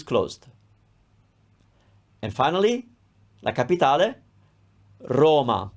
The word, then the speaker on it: Roma: and finally la capitale roma it's closed once again it's not